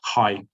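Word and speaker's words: αἱ: It has a spiritus asper, and then it should be not I but hai, pronounced as hai. Hai parthenoi.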